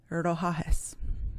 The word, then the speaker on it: Rohahes: So the first name that I found, Rohahes. Okay, very simple. Only 3 syllables. If we break it up, ro, ha, hes. Okay, I'm going to say it one more time. Ro, ha, hes. Rohahes.